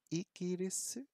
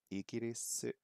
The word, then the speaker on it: Igirisu: Okay, let's check the pronunciation. Igirisu. So I have remembered some of it.